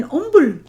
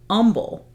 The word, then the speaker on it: Humble: realized she was saying humble um but not pronouncing the H and I realized oh well in Spanish you don't pronounce the h either so okay so humble so when I see